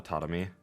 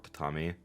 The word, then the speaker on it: tatami: She taps on the tatami. Or tatami. I've heard it pronounced both ways.